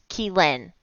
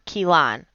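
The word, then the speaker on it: Kheelan: If it was Keelan... Okay, sorry. It is spelled K-H-E-E-L-A-N. And I know it is Keelan or Keelan.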